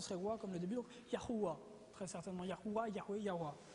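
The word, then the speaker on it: יהוה: yeux au complet yhh la prononciation très certainement serait non pas Jéhovah mais serait très proche de yahua vous avez entendu Yahoué déjà ok Yahoué mais ce serait très simplement plus yahua parce que si on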